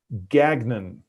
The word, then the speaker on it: Gagnon: so he pronounces it gagnon okay yeah he says i call him which is it's a french name and so that's the french pronunciation yeah and so i